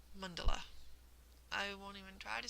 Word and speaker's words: mandala: to them, which is that indistinct sort of a vowel sound that so many vowels share. And so it's something like mandala.